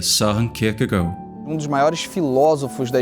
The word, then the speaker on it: Søren Kierkegaard: No Brasil a gente fala Kierkegaard, mas com certeza a pronúncia está errada. De fato, uma pronúncia mais próxima seria Søren Kierkegaard.